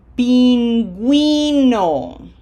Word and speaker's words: pingüino: Is that a silent U? No. So that middle syllable is going to be gui. Pingüino.